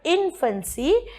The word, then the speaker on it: infancy: angel infancy now again because the word infancy usually has stress only on the first syllable that is i n we do not stress on f a n c y therefore the last foot